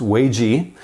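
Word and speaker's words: 危机: She told us that there are two Chinese characters that when combined are pronounced Wei Ji, and they are a combination of characters that represent the words crisis or danger and opportunity.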